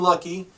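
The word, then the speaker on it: Hlucky: It said John Lucky. If you want to check him out on Facebook, his last name is spelled H-L-U-C-K-Y. The H is silent.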